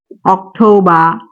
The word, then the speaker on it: October: তারপর এটার ক্ষেত্রে আরেকটা বিষয় আছে, সেটা হচ্ছে শব্দের শেষে যদি আর থাকে তাহলে সেই আরটা আমরা উচ্চারণ করব না।